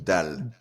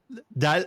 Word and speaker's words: Dalle: It's the family name you got wrong. It's Guillaume Dalle. Dalle.